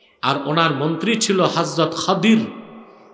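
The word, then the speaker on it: خضر: আর উনার মন্ত্রী ছিল হযরত খাদির। কি নাম? আপনারা ভুল বলেন খিজির উচ্চারণটা হচ্ছে বিফাতল খদির আমরা বলি খিজির উচ্চারণগুলো ঠিক করবো আমরা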